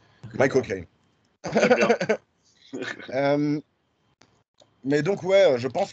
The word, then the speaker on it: Michael Caine: Parce que si en anglais tu dis Michael tu dis Michael Caine, et c'est comme ça qu'on prononce Michael Caine. Michael Caine.